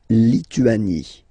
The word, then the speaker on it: Lituanie: La Lituanie. Remember in French, sorry, H doesn't exist, okay, so you don't pronounce it, and it's Lituanie, Lituanie.